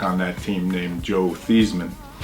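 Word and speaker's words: Theismann: that team named Joe theeman who changed his name in uh at Notre Dame the thyman to rhyme with that trophy that he didn't win but uh he was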